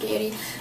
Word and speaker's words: Gaiety: i think called gaiety g-a-i-e-t-y so i think it's pronounced gayety but it's just matte